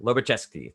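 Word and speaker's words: Lobachevsky: i knew you'd be my my guy there loba chesky thank you geoparty four points for nebraska it's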